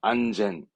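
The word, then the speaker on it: 安全: 안전한 안젠, 안젠.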